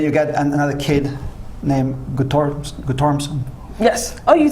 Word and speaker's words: Guttormson: Lee, and then you get another kid named Guttormson.